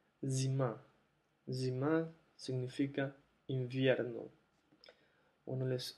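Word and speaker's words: зима: Zima. Zim significa invierno. Bueno, les sugiero que jueguen con la pronunciación con los sonidos porque esta no es cima, no es shima, no es sima, sino es zima.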